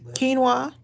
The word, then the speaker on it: quinoa: shrimp because no hope I said it right quinoa yeah that's it yeah I did it it's